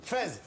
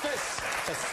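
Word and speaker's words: Fès: Fez. Bonne réponse. Oula. Mais on prononce fesse. Fesse. Non, Fez. On dit fesse. On dit Fez.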